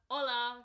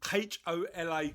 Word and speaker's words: hola: on Twitter oh uh hola kindness hola kindness what's what's the matter with the accent what's the matter with the accent you're pronouncing the H too much the problem the problem